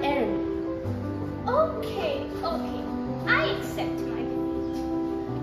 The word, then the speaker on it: Hermès: The correct pronunciations are Dior, Chanel, Louis Vuitton and Hermès.